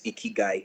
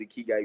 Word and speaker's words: Ikigai: So somebody said you cannot pronounce Ikigai without smiling. Yeah, your cheeks will naturally just raise. Ikigai.